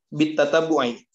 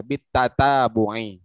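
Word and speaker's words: بالتتبع: Bit tatabbu'i. Jangan tasdid lah baknya. Bit tatabbu'i.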